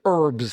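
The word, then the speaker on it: urbs: I was like, okay, it's something about a greater metropolitan area or something like that, but it was herbs.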